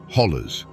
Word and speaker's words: hollow: Or, as the locals say, hollers.